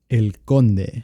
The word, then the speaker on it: El Conde: How do you pronounce the first one, Alvaro? El Conde.